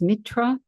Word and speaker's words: Mithra: So today we are going to talk about Mithra of Persia. And I'm still reading from the Christ Conspiracy. Mithra, sometimes pronounced Mitra, is a very ancient